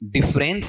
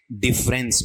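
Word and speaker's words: difference: इसका जो उच्चारण है वो सारे भाई बहन सुन लो, क्या है आपका, डिफरेंस। डिफरेंस नहीं होता है, अपन क्या पढ़ते हैं, डिफरेंस। होता क्या है, डिफरेंस।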